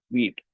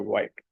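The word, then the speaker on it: Vite: And for that, it uses something called as wheat or white, however you want to pronounce it.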